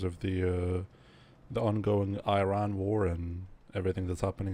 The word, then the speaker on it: Iran: As Iranian, I should say it's pronounced Iran. Iran. Thank you. In in Czech we say Iran and I've heard so many times like in the news that it's Iran like I ran as in like sprinted you know but